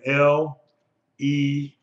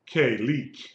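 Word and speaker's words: לך: You simply ignore the Shiva and you will pronounce this like an L-E-K, leak. Okay? Or lek, L-E-C-H, because there's no dagesh there. So it would be C-H. If it was a dagesh, it would be leak, L-E-K.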